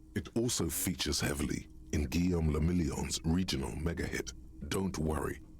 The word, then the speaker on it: Guillaume le Million: Guillaume le Million. Okay. If it doesn't rhyme, you're not pronouncing it right. Ah. Guillaume le Million.